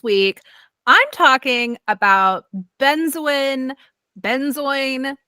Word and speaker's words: Benzoin: Benzoin. There seems to be no consensus on how to pronounce this. I've always said benzoin.